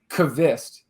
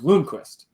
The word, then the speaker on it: Lundqvist: So she's been helping me out, and she was like, "Yeah, you guys have been on the loon part of it, but it's Kvist instead of Lundqvist, right?" And I think the Kvist part is you listen to Hernan or some of the other podcasts.